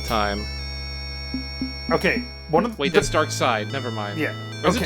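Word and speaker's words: Darkseid: okay one of that's Dark Side never mind yeah is it dark seed no it's dark it's dark it's pronounced dark side but it's uh se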